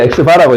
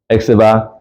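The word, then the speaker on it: x̄: 이거 x바라고 읽어요. x바 알았니?이 x바라고 읽어요.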